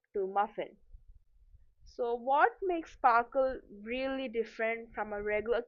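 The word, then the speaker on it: SPARQL: So, sprql pronounced sparkle is the query language for the semantic web.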